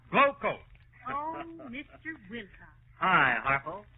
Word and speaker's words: Glo-Coat: And GLO-COAT is pronounced Glowcoat.